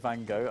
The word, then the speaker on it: Van Gogh: you know what about Van Gogh I think because he's is Dutch justing supposed to say like Vanko poor thang off or something like that like something completely unpronounceable for a British person but Sir van Gogh